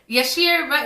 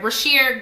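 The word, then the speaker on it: Bryshere: Like, I be trying not to associate him with his show, but Yashir, is it Yashir? Let me make sure I say his name right. Brashear Gray. Like, he was perfect for that.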